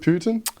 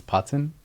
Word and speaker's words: Putan: Is it Putin? Well, it's actually a really funny story. So my family's always pronounced it as Putan.